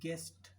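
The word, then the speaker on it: guess: ऐसे ही गेस्ट, you pronounce इसमें भी नहीं हो रहा।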